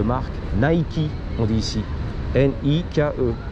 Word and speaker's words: Nike: On dit ici N I K E. Le E est prononcé Nike.